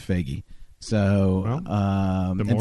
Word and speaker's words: Feige: I thought it was Phage. Donnie Yeah. thought it was Phage. You know, it's Feige.